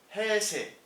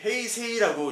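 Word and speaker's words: 平成: 여기가 이제 그 옛날에 해세 원래 이제 헤이세이라고 이제 발음 기호는 돼 있는데 요거를 이제 일본 사람들은 이 자를 빼죠. 예, 장음으로 하죠. 그러니까 해세라고 읽는 게 맞습니다.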